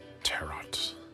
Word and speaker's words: tarot: Oh, the T is silent.